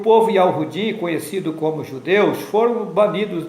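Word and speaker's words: יהוה: Esse nome está contido em um tetragrama hebraico, Yod He Vav He, que em português é YHWH, e a pronúncia do nome é Yahu.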